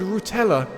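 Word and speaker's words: Rutela: people I was called rutella that rhymes of Nutella that's all I'm taking from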